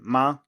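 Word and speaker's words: 妈: compounds as that character which is pronounced like ma but is related to mother i ma and as we can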